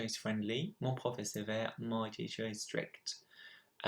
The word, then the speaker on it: sévère: Mon prof est sévère, my teacher is strict. Sévère, make sure that you got the accents the right way, so going up and then down.